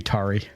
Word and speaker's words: Tarry: Yeah, Oh yeah, it is T-A-R-R-Y. 100% supposed to be Tari. I assumed it was tarry, like to tarry, to wait, to linger.